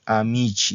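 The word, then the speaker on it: amici: masculina plural Okay es amichi se pronuncia amichi no amichi amichi no amichi Entonces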